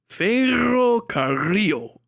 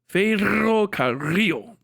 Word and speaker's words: ferrocarril: Roll your R. Churros. Ferrocarril. It's hard. Ferrocarril. I'm trying to get those R's rolled.